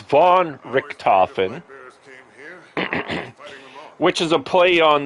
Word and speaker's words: VonRikken: His name was Baron von Richthofen, and my gamer tag is spelled VonRikken. Von Richthofen.